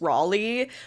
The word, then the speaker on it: Raleigh: The proper enunciation of my name is Raleigh, which is a very common English name.